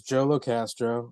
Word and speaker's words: Joe LoCastro: My name is Joe LoCastro, and I go by the name A Millennial's Third Eye.